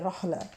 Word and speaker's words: رعلہ: अल सलाम अल्लाह ताला इनको रहला भी बोलते हैं जैसे अरेबिक में होते है ना आखिर पे ता के ऊपर गोल ता के ऊपर दो नुक्त तो वो साइलेंट भी बोलते हैं तो आईन के साथ है रहला अल्लाह ताला और आखिरत